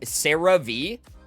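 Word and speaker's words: CeraVe: I think it's pronounced like Sarah V.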